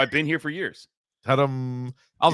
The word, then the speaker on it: Tudum: And it's sort of pronounced Totem, like the Netflix sound. I thought it was Totem.